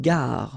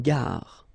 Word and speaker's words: gare: Okay, remember when you get these G and A together, the sound is g, ga, ga. Une gare. Final E not pronounced. Une gare.